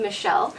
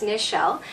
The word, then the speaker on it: Nichelle: nancy a lot of people always call me michelle but it's nichelle and spelt without a piece so right away it's just